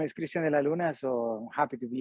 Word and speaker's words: Cristian De La Luna: I want to say Cristian de la Lune. Cristian de la Luna. De la Luna. Yep. It's not French. It's Colombian.